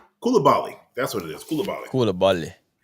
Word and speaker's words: Coulibaly: Is that how you pronounce that name? Coulibaly.